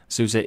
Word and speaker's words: SUSE: develops and sells Linux products to business companies souza is based in Germany and was founded in